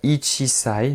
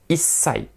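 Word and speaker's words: 一歳: petites modifications de prononciation 1 an nous allons pas dire ichisai nous allons faire ISAI ISAI 2 ans nissai très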